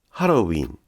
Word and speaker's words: ハロウィン: ハロウィンは短いです。